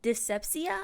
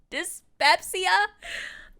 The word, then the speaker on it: dyspepsia: the terrible eating habits dyssepsia i think it's what how you pronounce that i'm a little dyslexic dyspepsia um which basically was